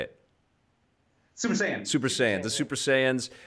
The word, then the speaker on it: Super Saiyan: Saiyans or Super Saiyan? How do you say it? Super Saiyan.